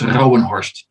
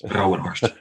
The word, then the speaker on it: Rouwenhorst: Not many people are able to pronounce that. So it's Rouwenhorst. Don't try it at home. It's difficult. Rouwenhorst. Yeah. Rouwenhorst.